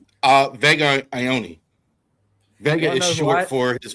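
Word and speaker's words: Vega Ioane: Vega Ione.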